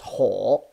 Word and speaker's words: 火: We went through the other four in just except this fire, pronounced as ho.